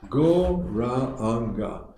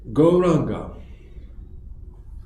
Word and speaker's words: Gauranga: This mantra has 4 syllables. Gauranga.